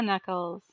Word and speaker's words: knuckles: knuckles it's their car knuckles knuckles only the k is silent because i don't know why because english doesn't make sense so as i get